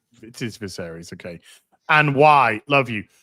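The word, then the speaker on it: Viserys: You pronounce this for me. Viseries. It is Viseries.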